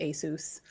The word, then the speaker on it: Asus: comment on the hardware but it is actually pronounced Asus like that's how you pronounce the company name